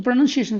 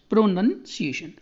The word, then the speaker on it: pronunciation: तो ये वाला ध्यान रख लीजिए आप, NUN यहाँ पर मेन चीज़ यही है, यहाँ पर नाउन नहीं है, ठीक है। प्रोनाउंसिएशन, बहुत बच्चे को प्रोनाउंसिएशन कर देते हैं, तो प्रोनाउंसिएशन है, ठीक है।